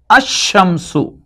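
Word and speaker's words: الشمس: Now when alif lam is added to both of them, this becomes Ash-shamsu, and this becomes al-qamaru.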